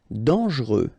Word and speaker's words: dangereux: Dangereux. Final X not pronounced. And then don't really pronounce this E here.